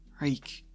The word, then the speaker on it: Reek: Reek, Reek. It rhymes with shriek.